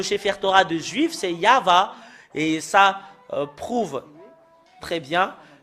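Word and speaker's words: יהוה: voyons dans le chefer Torat des Juifs c'est yava et ça prouve très bien que voilà la vérité juste en haut qui euh confirme cette ce terme que c'est yava qui est le vrai Yav n'est pas dans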